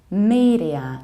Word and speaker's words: media: Whereas in the second word, we pronounce a long E. Media, not a, not media, media.